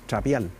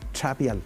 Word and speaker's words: trapial: hacerle empeño Mar Mar la ch o la TX se pronuncia Como por ejemplo en algunas partes le dicen al Puma No le dicen pangi o p le dicen trapial entonces no es es trapial arrastrado trapial trapial Sí el trapial el